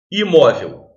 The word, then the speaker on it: imóvel: são acentuadas, por exemplo, imóvel. Imóvel é uma palavra com 3 sílabas, mas a segunda, que é a penúltima sílaba, é acentuada. É uma palavra paroxítona terminada em L.